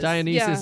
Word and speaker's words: Dionysus: Is it Dionysus? It is. Dionysus Yeah.